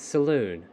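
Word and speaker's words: Selûne: It's Saloon, just like Saloon.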